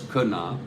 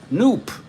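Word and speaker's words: Knoop: was demos yeah demos said it's kunna uh but he also said that he feel he he's not sure why but I used to pronounce canop as noop n p rhyming with Loop and I just thought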